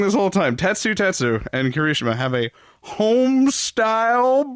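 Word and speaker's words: Tetsutetsu: as well kirishima and tess tessu test tattoo tatsu i've been saying it wrong this whole time tatsu tetsu and kirishima have a homestyle brawl that ends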